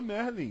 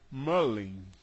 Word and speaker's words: Merlin: A palavra, o nome Merlin, no Brasil se fala Merlin, mas Merlin não se pronuncia Merlin nos Estados Unidos, se pronuncia Merlin.